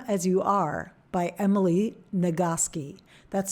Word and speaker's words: Nagoski: the book Come As You Are by Emily nagoski that's spelled n-a-g-o-s-k-i it's a great book that talks